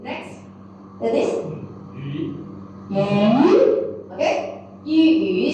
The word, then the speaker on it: 鱼: Okay, 鱼 second tone. 鱼 fish.